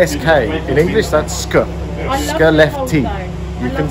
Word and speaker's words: Skellefteå: Skellefteå. It's spelled SK. In English, that's SK. Skellefteå.